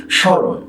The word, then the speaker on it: স্মরণ: স্মরণ। দন্ত স্বয় ম ফলা, র মূর্ধন্য ন, স্মরণ। স্মরণ, এই স্মরণ উচ্চারণ করছি তালব্য স্বয় চন্দ্রবিন্দু, রয়কার দন্ত নয় হসন্ত, স্মরণ।